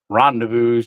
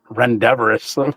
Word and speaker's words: Rendezvous: You guys know me, like Rendezvous, pronouncing it Rendevorous for like 6 months.